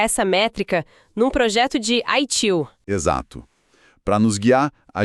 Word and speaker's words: ITIL: E o nosso estudo de caso é um nome que todo profissional de tecnologia conhece bem: ITIL, pronunciado ITIL.